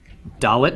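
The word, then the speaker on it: דלת: is dull it yes doll it makes the sound of the letter D as indoor numerical value is four and again note the tail in the top right doll 'it is the letter that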